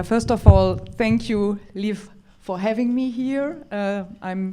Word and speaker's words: Liv: Oh, Liv, I have to pronounce. Lieve.